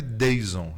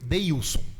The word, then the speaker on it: Dheison: com professora, você também, meu nome se escreve Deison, é D-H... Na verdade, eu chamei a primeira vez que eu vi escrito Deilson. Não, o Wilson, Deilson, é isso. Mas assim, seria Deison, né?